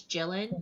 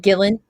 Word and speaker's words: Gillan: I always say it wrong. I think it's Gillan. Gillen, Gillan. Gillen.